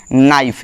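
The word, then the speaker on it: knife: होता है जब कोई, जैसे ये देखो ये वाला होता है, जैसे इसको क्या पढ़ते हैं? नाइफ। यहाँ पर के क्या है? साइलेंट है।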